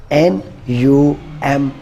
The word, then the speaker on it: numb: this lim tenth and the last word is n u m b num no no no this is also